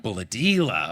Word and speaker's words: Bullahdelah: Bulladella. Bulladella.